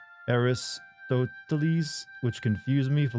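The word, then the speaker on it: Αριστοτέλης: Statue of Aristotle and I apparently it is pronounced aristotles which confused me for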